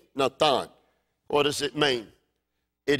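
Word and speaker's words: נתן: It's a Hebrew verb, natan. It's spelled N-A-T-H-A-N, natan.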